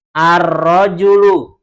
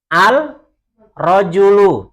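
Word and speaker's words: الرجل: Kemudian contoh yang kedua, rojulun, langsung ar-rojulu, bukan al-rojulu, tapi masuk ke huruf yang setelah lam. Contoh selanjutnya, dikun, adiku, talibun, at-talibu.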